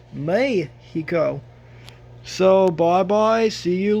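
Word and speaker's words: México: you should say eight you should not say Mexico you should say may he go so bye bye see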